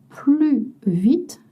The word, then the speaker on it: plus: Alors le S est silencieux devant un adverbe et un adjectif avec une consonne. S is silent. Je cours plus vite que toi.